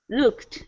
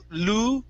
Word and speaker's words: look: a good l looked look okay very good and an ooh sound instead of lu it's look okay very nice all right